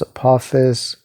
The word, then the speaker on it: Apophis: a ocean serpent uh named apophis or a pep or a papas however you you know pronounce it um but yeah it's often pronounced apophis he um he attacks